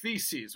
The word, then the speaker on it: theses: One of my theses is that theses with the TH, I mind you, will remind you to remember that that's how I pronounce it.